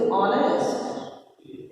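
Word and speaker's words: honest: अब क्या है ऑनेस्ट को जब हम हिंदी में लिखते हैं तो ऑनेस्ट है ना, तो ये साइलेंट है ऑनेस्ट को बोलते हैं इसे ऑनेस्ट।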